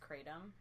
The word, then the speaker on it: kratom: say it correctly I just like calling it crown them it's actually pronounced kratom I've actually heard on a recent Pocket podcast